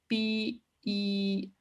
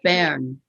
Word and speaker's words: Bern: It's burn. Yes. Burn. Burn. In German, we pronounce it BERN.